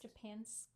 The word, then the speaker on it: Japansk: Yeah, it's pronounced Japansk. I have the label somewhere. It looks like Japan SK.